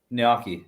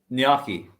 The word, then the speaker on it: gnocchi: Y in there apparently none of us pronounce the G though so I think we're